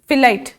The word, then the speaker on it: phyllite: Slate, marble, नीस, GNEISS, जी silent है, नीस. फिलाइट, PHYLLITE, फिलाइट.